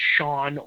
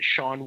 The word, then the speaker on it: Sean: You got, I believe his name's Sean. He is how he pronounces it, Sean Washington. He's in a group with